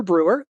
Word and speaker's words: Breur: the table all right my name is Brewer the last name is spelled b-r-e-u-r so it's five letters and the last three letters look like Europe and I have been